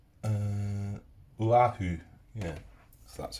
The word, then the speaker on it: Oahu: I keep saying Pearl Harbor, but it's Oahu. Yeah, so that's how you pronounce it anyway.